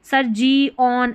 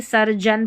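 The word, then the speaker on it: surgeon: इनको जन पढ़ना है जैसे यहां है सरजन अब इसको सर जी ऑन ऐसे नहीं पढ़ेंगे सरजन पढ़ेंगे जैसे इसको पीजी ऑन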